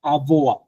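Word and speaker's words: avoir: লাস্টে কিন্তু আর সাউন্ডটা নাই, কারণ ফ্রেঞ্চে লাস্টের যে অ্যালফাবেটটা 99% কেসেসে যেটা হয়, লাস্টের অ্যালফাবেটটা ওইটা চলে যায়, লাস্টের অ্যালফাবেটটা উচ্চারণ করা হয় না।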